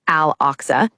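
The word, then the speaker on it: Al-Aqsa: For the Islamic world, Al Oxa, pronounced Al Oxa, is the final fortress.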